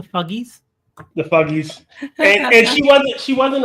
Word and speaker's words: Fugees: I believe it's pronounced the Fuggies.